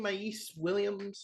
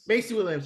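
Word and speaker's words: Maisie Williams: Mace Williams, is that how you pronounce her name? Macy Williams, yeah.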